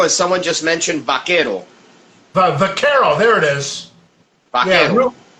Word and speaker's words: Vaquero: I must be mispronouncing it. There's Guajiro, and someone just mentioned Vaquero. Vaquero, there it is.